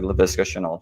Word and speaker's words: Laviska Shenault: I will pronounce the guy's name correctly. Laviska Shenault Jr.